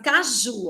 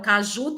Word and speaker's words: caju: posição as últimas sílabas no caso de Caju ao o ju é a gente sempre vai contar da esquerda para direita né então Caju tem a última sílaba tônica ela é chamada de oxítona as palavras que tem